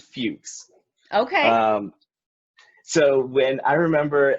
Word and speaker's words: Fux: Due to unpopular belief, we pronounce it Fuchs.